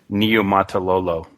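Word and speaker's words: Niumatalolo: And by the way, the proper pronunciation of his name is Niumatololo.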